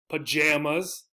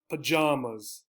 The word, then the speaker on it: pajamas: at different points so ah pajamas pajamas the other sound pajamas right pajamas again uh as i think about it i think i tend to say this one although i don't i just wear shorts so uh but i tend to say pajamas right both are correct you might hear both